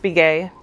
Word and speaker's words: Begaye: so my name is it's pronounced be gay that's my maiden name so begaye is that in case